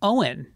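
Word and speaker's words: Eoghan: And one of the names we heard was Owen. And in Gaelic, it's spelled crazy. It's like O-I-G-H-A-N or something.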